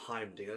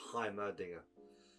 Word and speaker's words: Heimerdinger: name properly this time it's not himim Dinger it's himer Dinger heimerdinger's wise words um